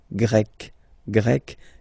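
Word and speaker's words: grec: form GRE feminine form you write them differently but then if you listen carefully gre gre you pronounce them the same way okay Portugal portug portuges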